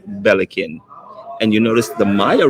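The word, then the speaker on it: Belikin: really good beer and it's pronounced bellikin and you notice the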